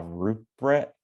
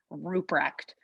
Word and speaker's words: Ruprecht: known as now rupert ruprecht did that's it you're so close you're so close yeah i know it's like extremely hard to pronounce it's ruprecht very good wrecked wow